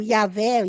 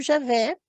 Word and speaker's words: Javé: algumas hipóteses Javé né eles põem yé como o yahvé yahwe ou yahvé ou coisa assim né eu pronuncio Javé por uma coisa e